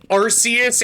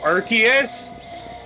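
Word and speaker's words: Arceus: I will say people who say Arus instead of Archus objectively wrong because when you're in Legends Archus, you're given something called the Ark phone.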